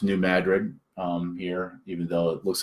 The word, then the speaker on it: New Madrid: It's pronounced New Madrid here, even though it looks like New Madrid.